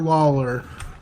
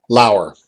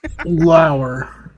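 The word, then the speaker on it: Laurer: It's not Lawler. It's Lauer. Can you pronounce it? Lauer. Yeah. Joni Lauer. Joni Lauer. Okay, yes, like Matt Lauer, not Lawler.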